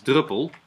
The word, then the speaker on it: Drupal: the name you say you pronounce it in Dutch as druple and if you spell that out it sounds like druple and that became Drupal so here we are